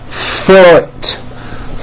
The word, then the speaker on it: foot: with a double O, but it is pronounced with a lower vowel sound. Foot, food, foot, food, foot. You hear that? There's a whole bunch of words spelled with that double O, but are pronounced with that lower vowel Let's practice some of those words now.